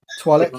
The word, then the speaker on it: Twi'lek: Twi'lek, yeah.